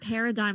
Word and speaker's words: paradigm: before oh no because when you read paradigm aloud it's paired together they get you with that g and i was like